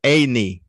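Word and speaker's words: עין: And family, the word, the Hebrew word here is Eini. Eini. Eini. And Eini means I. It is a silent letter.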